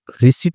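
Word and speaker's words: receipt: तो रिसीप्ट होता है। रिसीप्ट नहीं पढ़ते। रिसीप्ट भी साइलेंट होता है।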